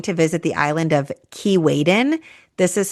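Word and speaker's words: Keewaydin: Another fun boat day is going to visit the island of Kiwen. This is spelled K E W A Y D I N.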